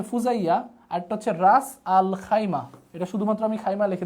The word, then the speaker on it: খাইমা: রাস আল খাইয়াম বা খাইমা এটাকে আমরা শুধুমাত্র খাইমা উচ্চারণটা বলতে পারেন খাইমা খাইমা তাহলে একটা হচ্ছে ফুজাইয়া